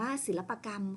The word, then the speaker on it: ศิลปกรรม: ศิลปะ การ นะ คะ ศิลปะ บวก กับ คำ ว่า กรรม นะ คะ ตัด สระ อะ ออก นะ คะ อ่าน ว่า ศิลปกรรม ค่ะ ต่อ ไป คำ ว่า